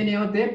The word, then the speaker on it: not: Se escribe N-O-T, pero se pronuncia not, como si fuera una A, not.